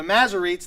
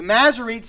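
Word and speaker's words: Masoretes: is the work of the macerates or the maserites themselves and the masary it's spelled m-a-s-s-o-r-e-t-e-s m-a-s-s-o-r-e-t-e-s the maserites themselves took meticulous precautions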